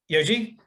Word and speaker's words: Yuji: Yoji? Did I pronounce that correctly? You got it.